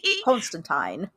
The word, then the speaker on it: Constantine: Constantine has one of those too, but it's Tyne like fine.